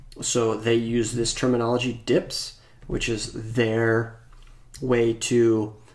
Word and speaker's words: dp: In material design is commonly pronounced as dips, which is the abbreviation dp here written as dp, and pronounces Dibs, they're flexible units that scale to have uniform dimensions on any screen.